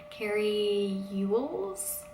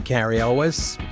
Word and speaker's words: Cary Elwes: Judd Morgan Freeman and I always get his name wrong Carrie Ewell's you look I'm Cary Elwes and you may know me from The Princess